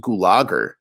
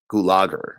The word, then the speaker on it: Gulager: By the way, I believe it's pronounced Gulager. I've been pronouncing it wrong. It's not Gulager. I like calling him Gulager. Gulager, I think, is the proper way.